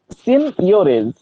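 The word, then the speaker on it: seigniorage: আর একটা জিনিস তোমাদের বলেছিলাম যে সিনিয়রেজ, ওকে, SEIGNIO RAGE, এই এর মানে উচ্চারণটা অদ্ভুত হলেও এর অ্যাকচুয়াল উচ্চারণ হবে সিনিয়রেজ। ওকে, সিনিয়রেজ, এই SEIGN, এই জিটার মাঝে মাঝে ইংরেজিতে কোনো ওয়ার্ড উজ্জ্ব থাকে, তো এখানেও সিনিয়রেজ।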